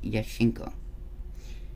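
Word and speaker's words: Jaskinho: some interesting haunted stuff yeshenko is one of my very very very favorites it is spelled justin ho j-a-s k-i-n-h-o but it is yeshinko um and they call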